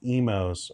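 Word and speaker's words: Imo's: Uh all right, imos pronounced emos.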